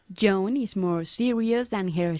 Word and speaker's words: Joan: No Joanne, sino Joan. Joan is more serious than her sister.